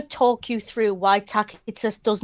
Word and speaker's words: Tacitus: And it is Tacitus, don't come at me, it's a hard C in Latin.